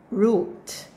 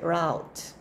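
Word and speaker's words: route: say it okay Desert root Desert root some would say Desert rout that's also correct but that's British next one is two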